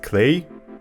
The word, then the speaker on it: Klei: is the vancouver based clay it rhymes with play this knowledge also leaves